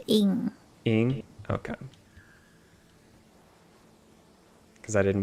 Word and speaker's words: Ng: How do you pronounce NG? Oh, I think it's Ing.